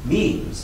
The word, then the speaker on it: memes: Memes, which is the pronunciation I favor, are units of cultural inheritance.